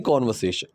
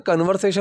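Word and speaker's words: conversation: Understand most of द कॉन्वर्सेशन। अब जिसकी pronunciation होती है, कन्वर्सेशन मत बोला करो, इसकी जो सही pronunciation that is कॉन्वर्सेशन, कॉन्वर्सेशन।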